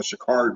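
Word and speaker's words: Sha'Carri: you say your interview or post interview after pronounced her name and she would correct them say my name is no shikari Richardson yeah yeah yeah and number two and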